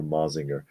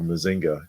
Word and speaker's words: Mazinger: Shogun Warrior um for mazinger and I'm like that's or mazinga depending upon your pronunciation but it's um it